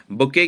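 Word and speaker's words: bouquet: person written by himself बुके क्या होता है देखिए अच्छा वर्ड है बुके कई बार एग्जाम में आता है ठीक है अधिकता इसमें टी साइलेंट रहता है याद रखिएगा स्पेलिंग भी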